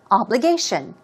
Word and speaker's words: obligation: Stress goes on the third syllable, obligation, obligation.